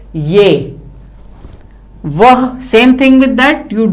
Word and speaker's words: वह: Vah, same thing with that, you don't pronounce the her and you say ve.